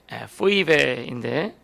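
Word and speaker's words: 뵈뵈: 베베. 원래 좀 정확한 발음을 하면 포이베인데 한국 성경에서는 이걸 베베라고 이렇게 이름을 명칭을 했더라고요.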